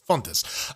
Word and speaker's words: Fontes: on record say that the name in brazil where this is also fairly common name jordan's pronunciation is closer to native speakers fontes uh so there you